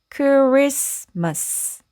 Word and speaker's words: Christmas: 그러면 읽어 보면 Christmas Christmas Christmas고 읽으시면 되고요. 우리는 크리스마스라고 해서 a를 아로 발음하죠. 그래서 우리가 잘 알고 있는 그 크리스마스입니다. 그때이 T가 묵음으로 소리나지 않고요.